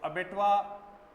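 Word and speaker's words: abattoir: तो इसका pronunciation, correct pronunciation according to phonetic description अबेटुआ ही है। अब इस वर्ड की अपन बात करें तो है क्या भाई, है क्या? तो अबेटुआ एक प्लेस का नाम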